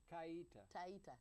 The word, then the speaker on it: Taita: Taita.